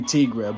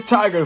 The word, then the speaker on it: Tigra: the marvel business oh i pronounced the tiger i mean it could be tigra but it's like tomatoes tomatoes and who's counting right but it's tiger from what i've always read though so let's continue this